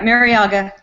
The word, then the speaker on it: Marriaga: Your thoughts on this bout with Walters and the guy he's fighting, Marriaga? I apologize if I'm pronouncing his name wrong. No, that's right, Marriaga.